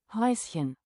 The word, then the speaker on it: Häuschen: How is this pronounced? Häuschen.